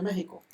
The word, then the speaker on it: México: se escribe con una equis méxico pero se pronuncia méxico texas y alguna equis una gota de este